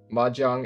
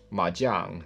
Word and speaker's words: mahjong: dialects in china right so it's mahjong or majiang you know i guess it's just pronounced differently depending on which which part you're in then there's the mona k